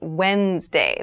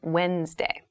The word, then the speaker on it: Wednesday: So Wednesday is the middle day of the week, but keep in mind this is pronounced Wednesday. There's a D there, but we don't say Wednesday. We say Wednesday.